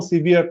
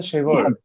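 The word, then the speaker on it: sever: এই শব্দের উচ্চারণ বলেন তো কি হবে, এই শব্দটার প্রোনাউন্সিয়েশন কি হবে? ডিভার্ট। এটা সিভিয়ার। নো, সিভিয়ার না, যে ভাই বলছে শেভার।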